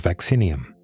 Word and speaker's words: Vaccinium: Botonists place blueberries in a genus called vaccinium, pronounced vacin eum.